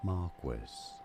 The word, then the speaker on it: Marquis: This is said as Marquis, stress on that foot.